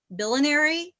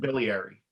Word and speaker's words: biliary: friend who has primary i'm not gonna say it right billionairy cirrhosis liver but biliary biliary thank you part of bile ducts